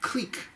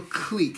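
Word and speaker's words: clique: like two or three you like a little click alright like a little quick see a lot Q is the proper pronunciation of that word it was a vocabulary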